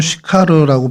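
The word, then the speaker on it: Συχάρ: 어, 헬라어 원어로는 슈카르라고 발음이 되는데요.이 슈카르가 원래 히브리어의 세카르를 어, 헬라어로 음역하다 보니까 이제 시카르로 발음이 됐고 저희 한글 성경에서는 그것을 수가로 번역을 합니다.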